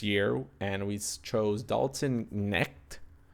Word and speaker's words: Knecht: we chose Dalton Knecht, if I'm pronouncing that right, or Knecht. It could just be like a weird CHT. But yeah, Knecht, Knecht, Dalton Knecht. There you go, Knecht. That would probably be the better way of saying it.